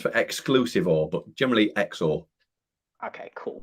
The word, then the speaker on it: XOR: exclusively one it's pronounced exo which stands for exclusive or but generally xor okay cool right xor so definitely not zore like xylem or xylophone no definitely not um